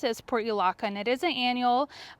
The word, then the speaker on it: Portulaca: And I've heard it pronounced other ways, but the way that I pronounce it is Portulaca, and it is an annual.